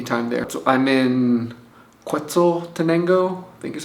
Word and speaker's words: Quetzaltenango: So I'm in Quetzaltenango, I think is how you say it.